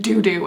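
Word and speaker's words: Doudou: called doo doo okay d-o-u-d-o-u there's no other way to pronounce that other than doo doo and in videos she's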